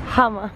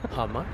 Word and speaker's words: Hamma: ¿Cómo se pronuncia? Hamma. Hamma.